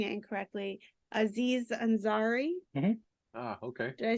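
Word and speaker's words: Aziz Ansari: really ever uh I chose I might be pronouncing it incorrectly Aziz anzari ah okay did I say that correctly yeah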